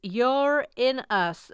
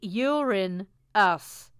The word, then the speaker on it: Uranus: voice speaking of Uranus some scientists here are now trying to claim it's pronounced you're in US I mean that's worse